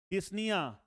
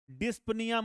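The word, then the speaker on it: dyspnea: और breathing difficulty को हम लोग बोलते हैं डिस्निया। डिस्पनिया मत बोल देना बेटा, पी साइलेंट है यहां पर, डिस्निया, ठीक है।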